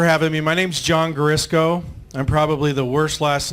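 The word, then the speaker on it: Guarisco: So when you see it, just think of Crisco oil, Garisco, just put a G in front of it.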